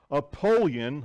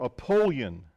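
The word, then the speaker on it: Apollyon: of Doom and despair aoleon I wrote down how to say that I didn't say it right before apolon the Greek name is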